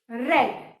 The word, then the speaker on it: read: तो ये आपको याद होना चाहिए कि प्रेजेंट में हम इसको रीड पढ़ेंगे और पास में इसको रेड पढ़ेंगे।